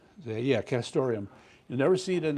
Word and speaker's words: castoreum: Yeah, castoreum.